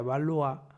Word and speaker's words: Valois: francesa Isabel de balois escribe valois Pero supongo que se pronuncia valoa dicen que nuestro amigo